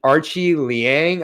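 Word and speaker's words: Aoriqileng: We got Jeff Molina versus is it Archie Liang? I believe is how I heard it said. I know it's spelled completely differently, but I believe it's Archie Liang, the Chinese fighter, who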